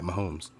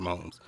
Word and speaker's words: Mahomes: mahone so it's patrick so i'm calling him patrick mahomes i used to always call him pat mums but okay i always said